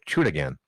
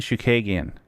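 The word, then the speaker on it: Chookagian: she lost her last two to Chunigan. That's not even anywhere close to how you say that. Well, prove me wrong. How do you say it? Caitlin Shukagian.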